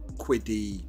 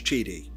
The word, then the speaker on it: QIDI: the hard-hitting questions like how do you pronounce quiddy Tech and they told me it's cheaty it's weird but that's what it is anyway the printer now